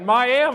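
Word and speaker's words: Miami: a thrill to be here at Neo in miam right did I say it right come on I want to hear it miam right yeah okay I've been practicing that for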